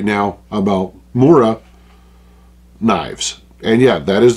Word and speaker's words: Mora: So that is about all I can say right now about Mora knives. And yeah, that is the correct pronunciation.